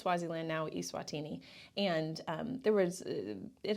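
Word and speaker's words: Eswatini: tiny country at the time called swasiland now eatini and um there was it had the highest it's actually pronounced etini I said it wrong see it was swasan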